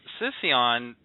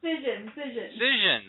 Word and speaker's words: Cision: So this Sission, which is a PR and marketing... Oh, Cision.